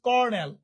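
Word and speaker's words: colonel: কলোনেল, that means কর্নেল।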